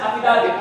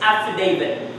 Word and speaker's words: affidavit: Filipinos pronounce it as affidavit, right? Affidavit is affidavit. Everybody please say affidavit. Affidavit. There. So you could have said aff, but you said affidavit. It should be affidavit.